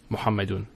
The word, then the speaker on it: Muhammad: his son is Muhammad notice here it's in the beginning of the sentence so we pronounce it mamad if say we put